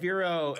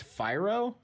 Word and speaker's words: Fyro: Firo is a bird. He's on. I think you're mispronouncing it, Jig. I think it's Fyro.